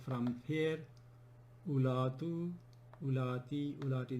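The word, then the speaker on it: أولات: And then zawatu becomes like from here, ulatu, ulati, ulati, not ulati. We don't pronounce wo here either.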